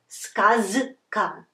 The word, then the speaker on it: сказка: It's more natural to say сказка. It's because this voiced, voiceless consonant influences the previous one and makes it also voiceless. So we have its pair here, not z, but its pair is s, voiceless pair, s. So we pronounce it сказка, сказка.